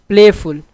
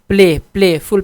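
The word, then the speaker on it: playful: प्लेफुल, प्लेफुल पे इतना जोर नहीं है, प्ले पे है, ठीक है।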